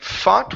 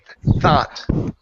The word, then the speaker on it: thought: the word thought ok give me a good th here instead of saying fought with an F ok it's a th thought what there you go